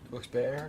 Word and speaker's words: Wilkes-Barre: that day Tracy from Wilkes bar Pennsylvania is that how do you say that questions Berry Wilkes bare depends on where you're from well I'm not from